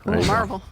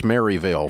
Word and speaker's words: Maryville: was born in Marvel so there it is Marvel that's how you say it that's how you say it if you're a Yankee it's Maryville for the rest of you but all right welcome